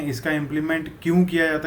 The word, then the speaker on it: impl: तो इसको अगर मैं प्रोनाउंस करके बोलूँ तो इसको इम्प्लीमेंट बोला जाता है। इन शॉर्ट इसको बोला जाता है इम्पल।